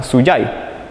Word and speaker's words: Suchai: que es Marcos Díaz suai viene del mum que se pronuncia suyai y significa Esperanza Entonces el nombre a